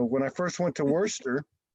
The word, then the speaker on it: Worcester: So when I first went to Worcester, Worcester.